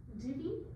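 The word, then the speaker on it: Dhivy: name of that oh this is called divy I know it's a weird DH i v y i means like divy it up yeah it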